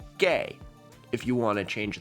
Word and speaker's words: Gay: Only that's not just a G, that's a gay. Pitman is based on syllables. A thick horizontal line with no other adornments is read in Pitman as gay.